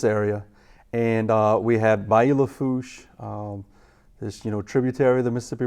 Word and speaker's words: Lafourche: And that's how it's spelled in French, Lafourche. Lafourche, yeah. Lafourche, that's right.